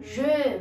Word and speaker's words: je: Outra palavrinha que se a gente não pronuncia com a boca fechadinha em francês, a gente acaba falando outra coisa, é esse aqui, o je, o primeiro sujeito do francês. Eu, je